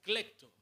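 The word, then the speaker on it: κλέπτω: utiliza una palabra que un término que se pronuncia clecto, del cual deriva clectomanía, ¿vale?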